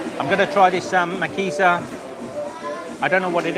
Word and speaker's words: Maciza: Una makiza? Sí, una makiza. Is this, how do you say? Makiza? ¿Maciza?